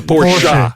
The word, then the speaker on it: Porsche: how he got paid Porsche Porsche I'm sorry you have to say it right it's a Porsche yeah Porsche Porsche